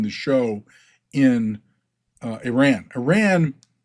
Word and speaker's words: Iran: Iran the Germanic pronunciation of Iran. Back in the 430s to 650s which is where this gets its prominence was Aryan. They couldn't pronounce the I in Iranian.